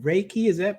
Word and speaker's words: Reiki: So tell us a little bit more about Reiki. Am I pronouncing that correctly?